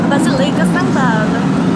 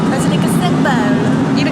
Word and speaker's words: Basilica San Paolo: Transit Shot ] - The pronunciation for this place is Basilica San Paolo~ - Basilica San Paolo~ they say it like this - Basilica San Paolo~